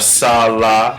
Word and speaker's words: sal: Instead of sala or sala, it's sal.